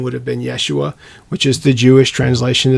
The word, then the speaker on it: Yeshua: would have called his name name Yoshua or yosua or in Hebrew would have been Yeshua so it doesn't mean